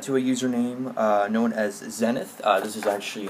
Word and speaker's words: Xenith: Well, first thing off, I wanted to give a shout out to a username known as Xenith. This is actually how you pronounce it right here.